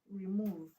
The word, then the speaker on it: remove: Examples include remove. Remove to remove. Remove is a what is it? Remove is it an action word? Is a verb. So stress to move to the second level.